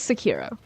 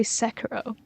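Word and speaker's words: Sekiro: Okay, so it is Sakiro. Sakiro because I know a lot of people who say Sakuro and it's making me doubt sex hero perhaps I'll say it like that.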